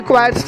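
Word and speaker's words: choirs: Pronunciation यहाँ पे क्वायर्स करेंगे।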